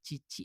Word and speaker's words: 父: Kalau kalian nyebutin Bapak sendiri pakainya ini kanji ini tapi berdiri sendiri dibacanya cici aja.